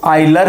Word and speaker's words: Euler: इसका नाम क्या है, तो आइलर फॉर्म। क्या है इसका नाम, आइलर फॉर्म। इसे कई लोग यूलर फॉर्म भी कहते हैं, और हम इसे क्या कहेंगे, आइलर फॉर्म। इसका प्रोनाउंसिएशन क्या है, तो आइलर फॉर्म है।